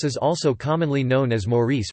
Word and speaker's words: Maurice: Mauritius is also commonly known as Maurice pronounced M-is and Île Maurice in French, Maurice pronounced Moise in Mauritian Creole.